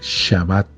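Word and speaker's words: שבת: día de reposo que en hebreo se pronuncia más o menos eh de la siguiente manera shabat el shabat el Día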